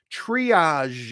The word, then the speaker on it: triage: you a nurse Patricia that's how we say it triage it has that voiced sh sound at the end reason I say it's